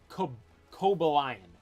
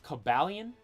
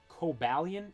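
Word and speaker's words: Cobalion: talking about this earlier I used to always say when I was little Kobe lion that's how I pronounce it Coba lion but now I think it's pronounced cabalian cobalian if I'm not mistaken I'm saying like caballion I'm saying really fast cobalian so I guess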